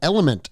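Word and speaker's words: LMNT: are brought to you by element and that is spelled l m NT and what element is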